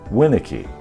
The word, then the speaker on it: Winnicky: Now take my name for example. Phonetically, it would be spelled capital WIN-UH-KEE, the last two syllables in lowercase letters. It tells you to emphasize the first syllable, Winnicky.